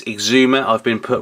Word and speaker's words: Egzumer: in the previous videos I used to pronounce it as EG Zuma well it isn't it is Exuma I've been put right